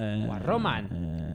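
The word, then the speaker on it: Guarromán: Guarroman, con acento en la última A, esan da. Guarroman. Aguda. Jesús María. Con acento porque acaba en N.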